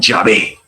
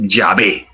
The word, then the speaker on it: Yahvé: Las 4 letras sagradas se pronuncian Yahvé.